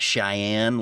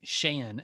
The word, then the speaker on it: Shayan: So I know it's not Cheyenne like Wyoming. So how do you pronounce it given your mixed heritage? Yeah, we just go with Shaheen Shayan.